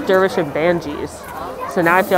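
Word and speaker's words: Dervish and Banges: a constant in my life but he says dervish and banji's so now i feel like i should say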